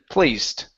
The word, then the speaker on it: placed: placed instead of placed the Ed ending is a t sound placed placed okay very good